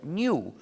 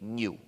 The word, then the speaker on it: GNU: No obstante, cuando hablas castellano, puedes pronunciarlo new, como si comenzara por ñ, lo que es también el nombre del mismo animal. Me dicen que pronunciar GNU es difícil para ustedes. No comprendo por qué, para mí es muy fácil, pero siendo así, recomiendo la pronunciación de new.